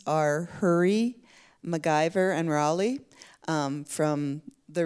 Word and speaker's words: Hourie: Hurry might not be spelled like you think. It is spelled Hourie. Often in Métis histories, actually it's spelled a variety of ways in Métis history books, but and pronounced more than one way too.